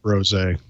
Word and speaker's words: rosé: I'm so glad it's pronounced rosé.